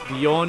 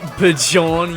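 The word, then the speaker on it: Björn: am i um dude you're saying it wrong it's bjorn unicorn not bejon unicorn is it really that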